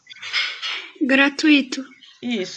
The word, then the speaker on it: gratuito: assento e a próxima gratuito gratuito étui é junto tá ela é um ditongo e ela é paroxítona separem aí ó gra